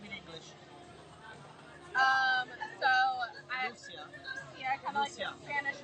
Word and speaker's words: Lucia: So Lucia. Lucia, kind of like the Lucia. Spanish version. In Italian we say Lucia.